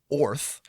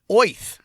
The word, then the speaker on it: Oerth: And according to the DMG, Oerth is actually pronounced Orth or Oith, which just makes me think of straight.